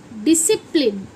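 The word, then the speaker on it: discipline: अब जैसे ये है डी डी आई सी एस सी आई पी एल आई एन ई ये क्या बना डिसिप्लिन ना कि इसे हम पढ़ेंगे डिस डिस डिप्लिन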